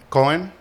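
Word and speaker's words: Kohn: Did I pronounce that correctly? Um Cohen. Cohen.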